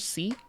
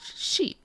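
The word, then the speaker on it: し: So instead of like si, like Spanish, si, it's she.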